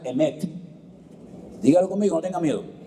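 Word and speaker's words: אמת: Se pronuncia emet.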